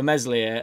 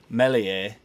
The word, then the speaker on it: Meslier: the silent s for meslier has come from mr p who has kindly pointed out to me that apparently the s is silent so i've sort of toyed with saying melee and not pronouncing this